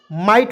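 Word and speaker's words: might: आपको याद रखना है किसी भी वर्ड्स के तुरंत बाद IGST रहता है, उसको उच्चारण आइट के रूप में कर लेंगे।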